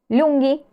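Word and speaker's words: lunghi: significaban largo y cansado el plural se hace con la H sí es similar a la regla que vimos recién para los femeninos entonces digo lungi y digo stanky má atencion sí abajo tienen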